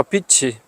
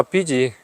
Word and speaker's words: 빚: 이렇게 펑펑 쓰 드니까 나라 빛이 빚지 아 또 발음 잘해야죠 나라 빚이 조가 넘었습니다 대단한 대한민국 참